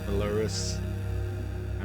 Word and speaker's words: Ailurus: um good content creator Belarus is how he pronounces it and this is just